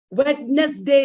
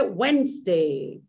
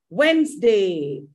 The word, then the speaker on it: Wednesday: of government is government wednesday is wrong you have to say wednesday wednesday government these are examples